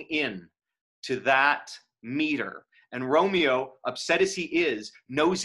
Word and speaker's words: Romeo: carrion flies then romeo they may seize so romeo there does does allied two syllables so you can see as we create